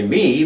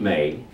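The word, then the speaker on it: μή: is just a me we would say me but it's pronounced May in the Greek it's a prime particle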